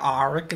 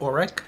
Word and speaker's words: Auric: So the auric, that throws me. It's AU, and like in English, auric. This is like auric is what I want to say, but it's auric.